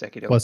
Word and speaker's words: Sekiro: But I got Sekiro, which is pronounced Sekido.